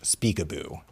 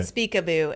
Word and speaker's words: Speakaboo: then just uh SLS Speakaboo and it's spelled how it sounds Speakaboo um s p a a k a b o o like peekaboo peekaboo but Speakaboo and then they you